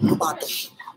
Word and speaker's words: Robato: It's the way Japanese pronounce my name, Robato.